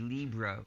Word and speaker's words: libre: And sometimes we actually say libre, which is sort of mispronouncing either a French or Spanish word, to emphasize we don't mean gratis.